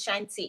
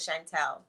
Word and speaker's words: Chantelle: my name but not it's shine t instead of chantel so c-h-a-n-t-e no c-h-a-n-t-i